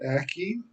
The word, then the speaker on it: aki: So we pronounce it Aki, means the ground, depending how you use it, or earth. So in our teaching, so Aki is like our Mother Earth.